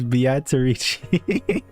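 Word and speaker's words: Beatrice: a small glimpse of Biatarici's wonderful and magical power. The name No, you don't understand. They say it as Batarici there. You'll hear it. I won't talk over it. You'll hear how they pronounce it.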